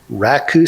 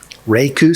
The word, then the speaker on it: Raku: in casks of awesome you'll hear me pronounce the language name as Raku sometimes reiku sometimes both are valid Raku is slightly more correct if you want to